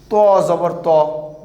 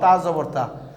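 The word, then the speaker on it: طَ: To Jabar To. This is To Jabar To. We have to pronounce To Jabar To, not Ta Jabar Ta.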